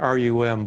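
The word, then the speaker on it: rhumb: the what's called the rum line yeah that's what she said right it sounds like rum but it's spelled rh umb can you find it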